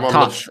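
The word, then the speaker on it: Thoth: That's my favorite Toph. Well, I think it's pronounced like Toph or something. Tough. It's pronounced tough, like tough to break.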